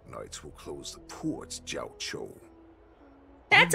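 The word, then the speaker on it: Jiaoqiu: Since you are so confident that the Cloud Knights will close the ports, Jiao Chou, that's how you say his name.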